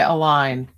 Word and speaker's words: Aileen: Is it Align? I'm just gonna brutalize it. She spelt it phonetically, Alyne. Yeah. So align. I'm gonna say align. As in well aligned or in alignment with our values.